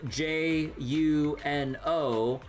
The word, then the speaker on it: Juno: there's a fortress location spelled J U N O, but that's pronounced Juno.